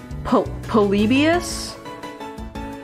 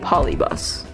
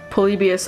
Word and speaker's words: Polybius: because I've been saying polybus which makes sense to me but there is an extra I in there so I don't know